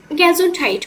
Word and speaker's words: Gesundheit: ওকে, গ্যাজুন্ডহাইট মানে কি? স্বাস্থ্য। আমার সাথে সাথে প্রোনাউন্সিয়েশনগুলো বলার চেষ্টা করবেন।